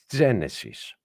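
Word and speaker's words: Γένεσις: This is E, and this is how you pronounce it when you read the word Genesis. You don't say Genesis. You say Genesis.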